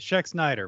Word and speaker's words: Schexnayder: below and joining me today uh has checks Nader how about pronounced your name right oh man I appreciate it check Snyder but yeah um but anyways and welcome